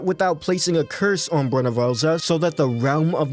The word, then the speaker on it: Bhunivelze: Within the realm of the living, Bhunivelze, yes, I pronounced that right, killed his mother Muin in order for him to take full control over the mortal realm.